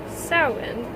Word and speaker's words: Samhain: associated with salmon and even though it's spelt this way it is pronounced sarwin uh almond apples cider